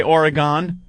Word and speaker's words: Oregon: Some people say Oregon, and people from Oregon say Oregon. Oregon? Oh, it's Oregon, and we actually have like bumper stickers here that is where it's spelled OrYgun. Spelled phonetically. Pronunciation.